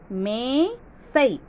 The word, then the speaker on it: மேசை: கா லி நாற்காளி அடுத்தது மேசை மேசை ரெண்டே ரெண்டு எழுத்துதான் ரொம்ப ரொம்ப ஈஸி மேசை மேசை அப்படிங்கிறப்ப மே அப்படின்னு நீங்க ஒத்த கொம்பு போட்டுருவீங்க ஒத்த கொம்பு போடக்கூடாது மேசை அதுக்கு தான் அந்த உச்சரிப்பு நம்ம இழுத்து சொல்றோம் மே சை மேசை ரெண்டு